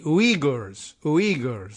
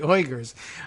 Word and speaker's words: Uyghurs: They say basically "ui," like UI is pronounced ui, not exactly WE, but ui, Uyghurs, and I said oi, which is like oi, the Uyghurs.